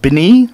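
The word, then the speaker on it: Beneil: Your boy uh Beni, that's how you say it. Benny.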